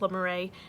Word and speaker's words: Le Marais: I think it's pronounced Le Marais neighborhood.